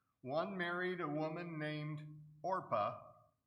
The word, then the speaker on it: Orpah: married a woman named orpah get that pronounced right it's not oprah it's orpah and the other a